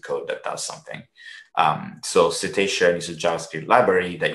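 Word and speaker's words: CETEIcean: And then another tool, it's called, this is pronounced cetacean, just like the animal that swims in the ocean, or the types of animals that swim in the ocean, cetacean, which is a JavaScript library.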